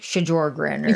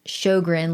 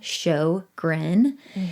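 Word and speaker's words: Sjogren: my last name is it's pronounced shogren like you want to show a smile show grin and then they're like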